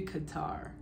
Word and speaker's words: Qatar: that's getting interesting though there's something about calling it cutter that just never sounds right to me I pronounced that country Qatar and I know British people might say the same thing just minus that final R sound but I think that